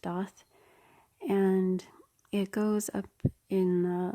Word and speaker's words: Daith: Daath piercing it's felt like death but it's pronounced death and it goes up in like one of